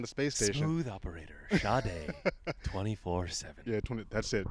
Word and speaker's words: Sade: It's spelled like Sade, like Sade. Yeah, But yeah. it's Sade.